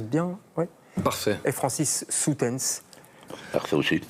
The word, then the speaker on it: Soetens: Et Francis Soutens. Parfait aussi. O-E en flamand, ça fait ou.